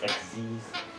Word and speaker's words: XYZ: It's spelled XYZ. They have XYZ written onto their effects. It's pronounced XZs.